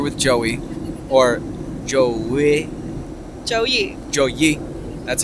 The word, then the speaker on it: Joey: Joey.